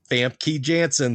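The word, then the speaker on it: Famke Janssen: Fam Key Jansen. That's how you say it.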